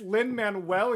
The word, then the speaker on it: Lin-Manuel: of this is obviously Lin-Manuel Miranda, who essentially, I said it right, didn't I? You were really close. You threw like an extra R in there. It's Lin-Manuel, and you said Lin-Manuel.